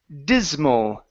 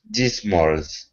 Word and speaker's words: dismal: word here is pronounced dismal dismal dismals okay without an S at the end only an L dismal dism okay good